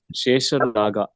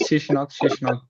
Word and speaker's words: Shesha Naga: Prabhu, we can go like Shesha Naga. Or many people call just Sheshnag.